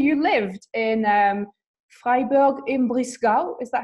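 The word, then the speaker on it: Breisgau: in Russia actually you lived in Freiburg in blue skull is that how you say it yeah so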